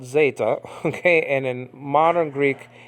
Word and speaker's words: zeta: Greek The Zeta is uh uh is called Zeta okay and in modern Greek is called Zita okay remember the Greeks love that e I